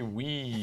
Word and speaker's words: Wii: Wii.